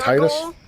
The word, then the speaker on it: Tidus: My name is uh Tetus, but we're going to pronounce it Titus.